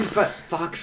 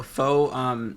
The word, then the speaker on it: faux: Spent 3 Fox real. Foe. Wait, what did you say? It's French. It's pronounced faux.